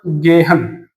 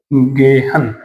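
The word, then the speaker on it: gehen: जी को हमने क्या पढ़ा? ग। ई को ए। एच, एच के दोनों तरफ वोवल है, रूल एप्लीकेबल है, तो हम इसको क्या पढ़ेंगे? ग। ईएन को न, तो क्या हो गया? गेहन।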